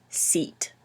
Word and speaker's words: seat: Sit, seat.